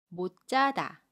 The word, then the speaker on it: 못 자다: 자음 지으 심한 나요 그러면 뭐 짜다 라고 발음합니다 받침 시 옷은 아침 소리 스스로 발음하고 첫소리 지으 슨 짜 로 발음 에요 그래서 못 자다 뭐 짜다 로 발음합니다 두번째 경우 볼게요 이번에는